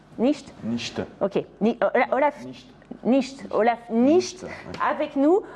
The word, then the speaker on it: Nichte: Donc Olaf Nicht, ça se prononce comme ça? Nicht.